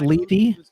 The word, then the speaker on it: Levy: One of those rumors I Oh, so it is Levy?